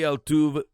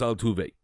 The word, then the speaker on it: Altuve: You get Jose Altuve, former.